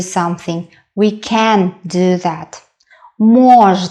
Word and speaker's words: можно: possible to do something we can do that mores not the first syllable stressed the second word is para para